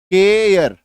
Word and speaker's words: care: था, CARE, ठीक है, जब किसी शब्द के लास्ट में ई आता है तो हम लोग ई का उच्चारण नहीं करते हैं, ई का उच्चारण नहीं करते हैं, ठीक है। अभी इसका उच्चारण देखो क्या है, केयर, है ना, केयर, यह भी बोलते हैं इसको हम लोग, केयर भी बोलते हैं, दोनों साउंड आता है, ये दोनों ही सही है, केयर, ठीक है।